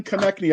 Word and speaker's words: Konecni: it's connected actually connectny i would have never gotten that but can you introduce yourself and tell us how to pronounce it yeah it's uh like connecting the knee connect me uh i am actually